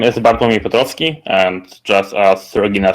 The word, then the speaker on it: Bartłomiej Piotrowski: on whether you live um my name is bartomi petrovsky and just as regina said it's most likely not pronounceable to you so um just feel free